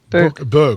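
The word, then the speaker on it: Bök: Book? Book. He used the Canadian pronunciation. It's an umlauted O, so it's got a little...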